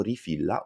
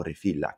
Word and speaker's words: Reefilla: episodio invece abbiamo incontrato rifila o refilla che dirsi voglia gli stessi founder ci hanno infatti detto che entrambe le pronunce vanno bene rifila È una startup